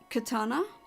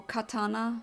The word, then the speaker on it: katana: I assume it's a katana, or katana, if you want to pronounce it correctly.